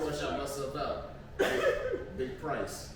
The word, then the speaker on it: Pri$e: Big price. That ain't with an E. It's not praise. It's not priest. It's price. That way. You said that priest? Price. Big price, not small. Price your ass out. But it's spelled like prize because.